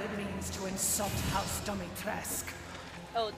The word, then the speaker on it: Dimitrescu: You will learn what it means to insult House Dimitrescu. Oh, Dimitrescu.